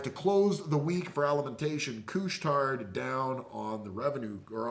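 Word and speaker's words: Alimentation Couche-Tard: on the clothes on Friday down from earnings alimentation coustarde that's how you say it uh de Laval Quebec they whole have over 15,000 stores around the world Canada u.s.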